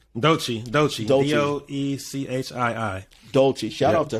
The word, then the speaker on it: Doechii: So shout out, how you pronounce it? Doechii? Doechii.